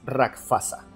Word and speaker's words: Rakshasa: Se escribe Rakshasa, pero por lo que investigué, la verdadera pronunciación es Rakshasa.